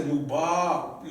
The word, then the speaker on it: مباركة: I can't tell you said Mubaraka or so whatever. I got to say Mubar, elongated, because I got an A here and I got another A here.